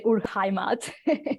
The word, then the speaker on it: Urheimat: My German is not great, but I would say Urheimat.